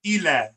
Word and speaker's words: ILA: I's are E's, so that would be pronounced Ela.